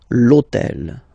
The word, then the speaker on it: hôtel: And third example, so I took on purpose this hôtel, okay, because it starts with H, but remember that in French we don't pronounce H, okay, so basically the first